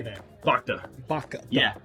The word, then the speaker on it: Bhakta: Baka. Yeah, Bhakta.